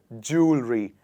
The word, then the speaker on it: jewelry: is it jewelry or is it jewelry it is jewelry and not jewelry so